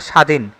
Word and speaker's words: স্বাধীন: হচ্ছে আস্বাদন কিন্তু এখানে স্বাধীন শব্দটিতে ব থাকার পরেও এখানে ব এর কোন প্রভাব নাই পদ্ব শব্দের সঠিক উচ্চারণ